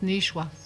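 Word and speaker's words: nishuasht: L'écriture est S-H-U-A-S-H-T pour le 7, là, mais il se prononce nichouas.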